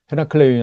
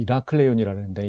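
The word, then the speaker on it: Ηράκλειο: 지었고, 헤라클레이온 고고학박물관, 이제 현지 그리스어로는 H 발음 안 하니까 헤라클레이온이 아니라 이 이라클레이온이라는데, 이 이라클레이온 고고학 박물관에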